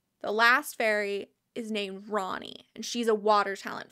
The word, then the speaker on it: Rani: rain is water so maybe her name is pronounced Rainey and I've just been pronouncing it that way in my head for God like 15 years so I'm gonna make a concerted effort to pronounce it Ronnie because that is the correct pronunciation I like